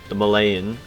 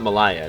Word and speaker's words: Malaya: because we get the Malayan, I believe that's how you pronounce it, Sultanate traditions, because you say Malaysia, and that's not Malaya, it's Malaya. God, I always mess it up, my bad.